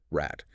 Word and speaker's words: Rad: But a German speaker says rat.